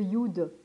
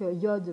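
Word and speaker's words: יוד: marque Yod, mais c'est Yud parce qu'en fait, si vous voulez, ou ça existe, c'est compliqué en fait à marquer. Donc du coup, on met Yod, mais c'est Yud, on prononce Yud en hébreu.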